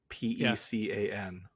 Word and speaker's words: pecan: now here maybe here's the how do you pronounce p-e-c-a-n -p oh uh what do I usually say